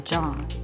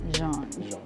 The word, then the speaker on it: Jean: Say it right. It's John. It's Jean.